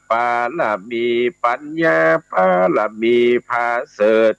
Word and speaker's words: ปารมี: บาท ไท ยอด มุนี อ่าน ว่า ปารมี ปัญญา ปารมี ประเสริฐ มี